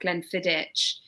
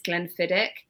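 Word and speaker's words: Glenfiddich: I basically were saying it's not Glenn fidich it's Glenn fiddick and the amount of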